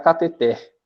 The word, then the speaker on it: cateter: A norma padrão diz que ela é oxítona. Então, se ela é oxítona, o correto é pronunciar cateter. Cateter. O TR no final é que tem o som mais forte.